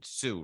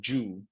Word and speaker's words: Zhu: Zhu, right? In Chinese, I know it's quite difficult, but we can call it Zhu. Oh, Tom But Zhu. Okay. yeah, Tom Zhu That's the is more proper pronounced.